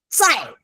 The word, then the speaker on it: 在: 对，我在老师 it's a Z, okay? It's a Z, not a C.